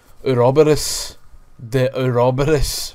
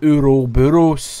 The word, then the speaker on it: Ouroboros: Albert Wesker's taking over, and he's got the Ouroboros virus, or whatever the fuck it's called. I can't remember. I just remember the way it was pronounced in the game, the Ouroboros.